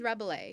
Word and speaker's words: Rabelais: This is Rabelais. Rabelais. Oh, I was right.